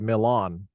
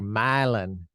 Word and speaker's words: Milan: have a city called it's spelled Milan like in Italy that's not how they say it they say myelin that's really we're gonna